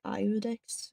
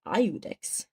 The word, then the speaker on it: Iudex: But I've never heard Iudex. I always thought it was Udex.